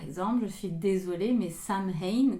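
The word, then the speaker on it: Samhain: je suis désolé mais Sam ha que vous pouvez aussi prononcer sawin c'est pas le 31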